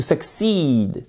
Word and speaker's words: succeed: You need to pay attention in class if you want to succeed, to succeed, to succeed, to succeed. À accent tonique sur la seconde syllabe.